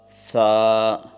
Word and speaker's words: ث: Pronounce the mufradat letters with the Arabic accent according to the rules of tajweed and qiraat. For example, ba, ta, sa, and avoid Urdu pronunciation. For example, be, te, سے۔ Note: اصطلاح قرہ میں